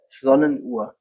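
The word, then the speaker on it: Sonnenuhr: So Sonne is the sun, sundial, Sonnenur. Zona Noir.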